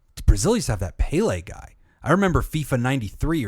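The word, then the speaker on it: Pelé: Um, Brazil used to have that PLE guy. I remember FIFA 93 or some and that guy was important. It's pronounced pillow.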